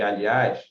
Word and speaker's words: aliás: Se você separar corretamente essas palavras aqui, ó, francês, país, além e aliás, contando de trás para frente, o acento está sempre na primeira sílaba.